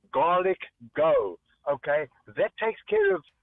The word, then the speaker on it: Garlic Go: Just as in go. Garlic as in G A R L I C and then go. G go G go G O garlic go.